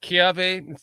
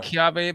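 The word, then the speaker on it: kiawe: Kia Kiave. They pronounce it Kiave, but it's it's spelled Kiwe.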